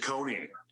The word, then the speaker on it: Ciccone: Ciccone. Huh? Ciccone. Ciccone? Like a Ciccone. Oh, like Chickateri Cola? Like Ciccone? Something real similar, yeah.